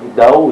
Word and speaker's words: Dao: de la Chine ancienne, le mot Tao ou Dao, Dao, j'arrive à bien le prononcer, eh bien on a